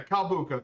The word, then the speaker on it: Calbuco: Yeah, Calbuco. Thank you, Typhon. Yeah, I do my best with the pronunciations.